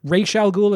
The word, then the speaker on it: Ra's al Ghul: way this is where Ra's al Ghul is created or Rachel Ghul if you want to use O'Neill's pronunciation this is where the